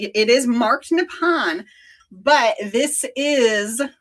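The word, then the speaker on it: Nippon: it was actually writing nepon instead which is the Japanese pronunciation of Japan so the ni o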